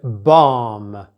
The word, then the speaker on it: bomb: Noticed I said bomb. I didn't pronounce the B at the end.